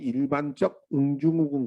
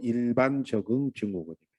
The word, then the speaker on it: 일반 적응 증후군: 이거 잘못 읽으면 꼭 일반적 응증후군 그렇게 읽으시는데 그렇게 읽지 말고 일반 적응 증후군입니다.